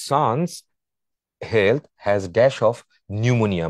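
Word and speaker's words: pneumonia: health has dash of নিউমোনিয়া বানানটা খেয়াল করে দেখো পি দিয়ে শুরু হবে নিউমোনিয়াটা সো শ্বাস রোগের কারণে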